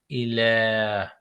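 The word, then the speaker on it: إله: Here the rule applies to the word in ilah. Ilahin, ilah, Yeah. ilah. So it's pronounced like a normal alif.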